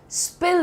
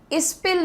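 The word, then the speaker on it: spill: ठीक है, next idiom देखते हैं यहाँ पर, स्पिल the beans. स्पिल the beans, pronunciation तो आसान है इसका, स्पिल, इस्पिल नहीं होगा, इस्पिल नहीं, आपको स साउंड को पहले रखना है।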